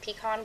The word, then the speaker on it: pecan: beautiful piece of, now please forgive me if you're from Texas and I'm pronouncing this differently. I am originally from Florida, so I'm gonna say that's a beautiful slice of pecan pie. My husband says that I'm pronouncing that wrong, but that's how I say it.